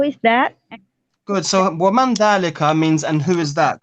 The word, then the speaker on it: ذلك: So it's written dhalika, but we pronounce it dhalika.